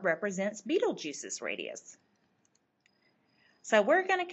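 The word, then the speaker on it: Betelgeuse: going to compare volumes Beetle Juice and yes that's how it is pronounced I looked it up beetle juu is one of the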